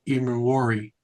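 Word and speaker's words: Emmanwori: I don't even know how to pronounce his name. Number three, um Nick Warari.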